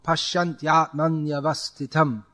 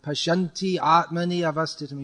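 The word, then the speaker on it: paśyanty ātmany avasthitam: But it's supposed to be said as one flow. Pashyantyaatmanyavastitam. It's all one flow. There's no stopping in between. And there this ya before a vowel comes twice, which means if you pronounce it like Pashyanti atmani avastitam, you add 2 extra matras. It imbalances the whole meter of the verse.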